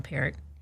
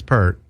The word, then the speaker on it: Peart: No, they're getting an argument about how to say this guy's last name. And it was him. They were talking to him. Yeah. And he's saying it's Peart. No, he says it's Peart. Is it Peart?